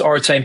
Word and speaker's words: Oritain: us and um yeah you pronounce Oran perfectly sometimes people trip over that I think it originally comes from origin certain um so that's what